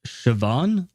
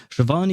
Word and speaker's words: Siobhan: And the some of the examples we have, for instance, we have uh Siobhan, I believe is how you pronounce her name. Siobhan is an NPC uh in Hong Kong.